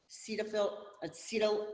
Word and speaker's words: cetyl: So your example on this one's going to be acetyl alcohol, and it's spelled C-E-T-Y-L, alcohol.